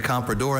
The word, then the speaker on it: comprador: Mandarin and English, the comprador enabled the British traders to get excellent terms on Chinese tea, silk, and porcelain. Okay, comprador. Repeat all the information again? Comprador is the only pronunciation of this noun.